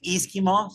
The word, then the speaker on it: E-SKIMO: Yes, it's actually E-SKIMO, stands for Electric Ski Mountaineering.